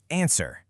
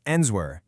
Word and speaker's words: answer: Here's a word we use all the time, answer. I mean, really think about it. Nobody says enswer.